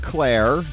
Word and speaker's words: Klayre: I said it's pronounced Klayre, so like Claire.